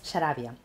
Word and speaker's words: Xarabia: llama Sarabia, es una palabra asturiana muy prestosa.